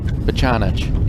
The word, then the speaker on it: Bachanich: Oh, God, how did we say his name yesterday? Bachanich. See what happens. Bachanich. Yeah, you nailed it.